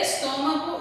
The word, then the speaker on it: estômago: Aí tem estômago e âncora. Então, vocês vão colocar assim. Estômago. Olha o acento. Mago. Estômago. Qual é a sílaba mais forte? O tó.